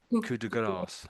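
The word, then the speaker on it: coup de grâce: yeah, maybe it's like this is all sort of French. So the de is up, French for yes. of, isn't it? So this bottom one, so that's coup de grace, coup de grace, I should say, Coupe coup de de grace.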